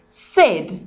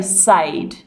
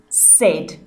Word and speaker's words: said: our phonics learning and this does not sound like the a sound words we pronounce this word said we don't say sayed it is said you need to memorize